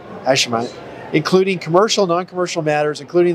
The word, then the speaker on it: Hashemite: One of the things here is represented various interests over the past 45 years in the Hashemite Kingdom of Jordan. I know I pronounced that wrong. Hashemite.